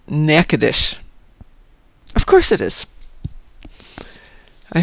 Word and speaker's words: Natchitoches: And Louis Satchmo says there's a town in Louisiana named Natchitoches, but it's pronounced Natchitoches.